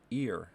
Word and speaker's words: ir: we're learning today it's that word is ear spelled or IR repeat after me ear n ear as a